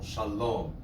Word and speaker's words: shalom: In Hebrew, the rule of thumb is that it's accented on the last syllable, shalom, lehitraot, right?